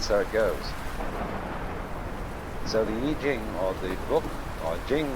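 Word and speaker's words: 易經: the Book of Changes, called the Yi Jing, not the Wai Ching.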